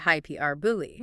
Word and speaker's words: hyperbole: Except hyperbole uses the hyper from hyperlink but stresses the second syllable highkey r e r and the ending is bully rhyming with the word believe without the v hypr bully.